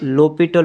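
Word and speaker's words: L'Hôpital: हॉस्पिटल rule जिसको पढ़ते हैं हम लोपिटल रूल। एस साइलेंट होता है।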